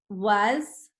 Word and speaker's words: was: So I'm going to put the A sounds more like a U, the S sounds like a Z, was.